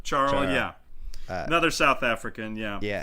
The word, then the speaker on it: Charl: works yeah Louie uh Carl schwarzel charl Char almost like Charro but charl yeah another South African